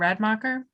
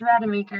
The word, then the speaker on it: Rademacher: I mean, we do have, and sorry if I mispronounced your name, Radmacher. Yes, Rademacher.